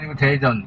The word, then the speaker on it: Daejeon: (Hàn Quốc) Daejeon… (Hàn Quốc) Thực ra phát âm là 'Tae-jŏn!'